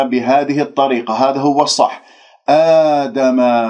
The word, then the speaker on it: آدم: آدم لديك ألف ساكنة قبل همزة مفتوح، إذن مد بدل بمقدار حركتين، ولا نقول آدم الأسماء كلها هكذا إمالات بالألف، هذا غير صحيح، اجعل اللسان مرتاح بعد بين الفكين، لا تبتسم بالشفاه.